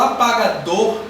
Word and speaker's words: apagador: Quando eu falo apagador, a sílaba mais forte vai ser o dor. Apagador.